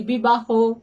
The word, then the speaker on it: বিবাহ: আমরা কখনো বলি না বিবাহ, আমরা বলি না কলহ, আমরা বলি বিবাহ, কলহ, মুড়ো, গাঢ়, অর্থাৎ সমস্ত অগুলো অকারান্ত উচ্চারিত হচ্ছে।